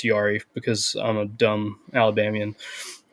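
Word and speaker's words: Yairi: what you're talking about I think it's technically yiri but it's Yari because I'm a dumb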